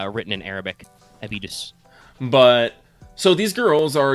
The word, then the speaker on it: Abydos: Well, assuming that by the way, assuming that the name is spelled, is meant to be pronounced the same way as the city in Egypt, it's, Abydos. Abydos?